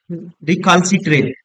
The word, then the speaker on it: recalcitrant: क्या होगा, रिकाली रिकालसीट्रेट। ठीक है, रिकालसीट्रेंट, रिकालसीट्रेंट दोस्तों। ठीक है, इसकी राइट स्पेलिंग होती है, ध्यान रखेंगे, RE, मैं लिख देता हूँ RECAL, रिकालसीट्रेंट, रिकालसीट्रेंट।